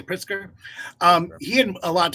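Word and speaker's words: Pritzker: pritz pritzer I think is how you say priter um he had a lot to say about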